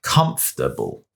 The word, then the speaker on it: comfortable: you hear what happened again the stress has ended up on the wrong syllable and then when you say to someone this chair is really comfortable they won't be confused but it's just incorrect pronunciation and it's not necessary considering no one would ever pronounce it like that it's more like comfortable right and I'm giving